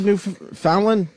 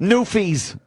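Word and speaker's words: Newfies: on this nut let's let's keep it to New Fallon is that how you say it new fees just say new fees yeah new go after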